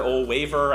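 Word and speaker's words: Ole Wæver: Ole Waver, I think is how you say that. It's the one with the A and the E put together into one letter.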